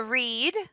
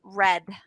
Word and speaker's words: read: this it's confusing to read so it's it's pronounced in present tense read right to read but in past tense you it's spelled the same you just say red like the color okay so just the